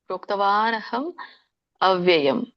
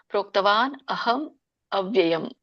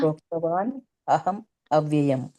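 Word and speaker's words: ಪ್ರೋಕ್ತವಾನಹಮವ್ಯಯಮ್: ಹಂ ಅವ್ಯಯಂ ಅಂತ ಬರೋದಿಲ್ಲ ಹಾಗಾಗಿ ಅಲ್ಲಿ ಅ ಹಚ್ಚತಾ ಹೋಗಿ ಪ್ರೋಕ್ತವಾನ್ ಅಹಂ ಅವ್ಯಯಂ ಅಂತ ಹೇಳ್ತಾ ಹೋಗಿ ಮತ್ತೆ ಹೇಳ್ತಾ ಇದೀನಿ ಎಲ್ಲರೂ ಕೂಡ ಕೇಳಿಸಿಕೊಳ್ಳಿ ಪ್ರೋಕ್ತವಾನ್ ಆದಮೇಲೆ ಅ ಹಚ್ಚಬೇಕು ಅಹಂ ಮ ಆದಮೇಲೆ ಮತ್ತೆ ಅ ಹಚ್ಚಬೇಕು ಅವ್ಯಯಂ ತಿಳಿತಾ ಪ್ರೋಕ್ತವಾನ್ ಅಹಂ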